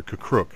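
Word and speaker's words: K'Kruhk: very easily be reintroduced is the jedi master kakruk uh which ones if you don't know that name it's because i pronounced it wrong probably okay uh it is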